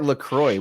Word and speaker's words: LaCroix: one too you know let's uh let's talk lacroix where do you all stand on la croix